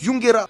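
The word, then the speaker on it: ユンゲラー: nom que lui yungerer c'est le nom du Pokémon en japonais et ça se prononce yungera lui il s'appelle yurigerer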